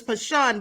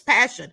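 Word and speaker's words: Pashun: sad and I pronounced the mother's name is pashan but it's passion it's spelled p-a-s-h-u-n it looks like pashan but nevertheless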